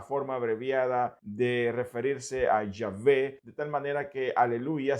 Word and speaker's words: Yahvé: Así que por todo esto, muchos afirman que la mejor manera de pronunciar el nombre con el cual Dios se le reveló a Moisés no es Jehová, sino que Yahvé.